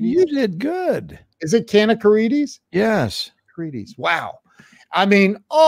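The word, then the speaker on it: Kanakaredes: Is it Kanakarides?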